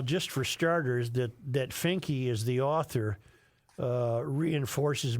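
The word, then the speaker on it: Finke: Yes, it's pronounced Fininky.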